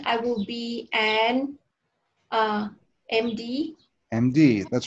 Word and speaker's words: MD: md md that's right so even though this is just the letter the letter m but if we sound the sound of the letter m is sort of like em you know so that's a